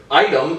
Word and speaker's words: item: And it's also, right, item is pronounced I-tum, like the word I and then T-U-M.